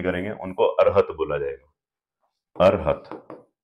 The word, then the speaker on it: अरहत: अरहत, not arhat, अरहत, ठीक। मैं देख रहा हूँ कि बहुत सारे टीचर्स, है ना, अरहट अरहट बोलने लगे, उनको उनको पता ही नहीं है इनकी प्रोनाउंसिएशन।